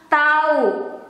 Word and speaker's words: tahu: daily conversation it becomes tau we don't pronounce the h or the h is a silent letter tau tau but the way we